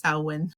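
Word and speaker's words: Samhain: mean and it's not Sam Hayne honey it's sawin but oh my God yes okay my bad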